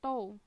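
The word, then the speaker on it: τ: Ini bacanya tau.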